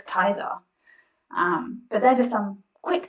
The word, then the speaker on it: Caesar: you can see that julius caesar must be turning in his grave every time we say julius caesar because really we should say his name julius kaiser but they're just some